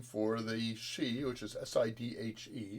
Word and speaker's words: Sidhe: So Banshee is another name for the Sidhe, which is Sidhe, pronounced she, which are essentially the underground elves, The fairy folk.